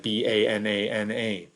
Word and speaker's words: banana: that we use most picture a word like b-a-n-a-n-a uh banana you don't say banana right you don't pronounce all those a's the same banana that's how the